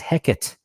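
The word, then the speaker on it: Hecate: the grand scheme of things hekate was as heckit it was a dbic pronunciation not three they removed the three for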